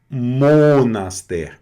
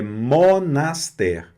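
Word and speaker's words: monastère: Não, eu não fiz um monaster. É monaster. monaster, certo? O que eu tô querendo dizer aqui, né, que a regra diz, é que quando você tem essa combinação de letrinhas antes de uma vogal ou h, né, em alguns casos, ela não vai dissoar nasal mais, tá?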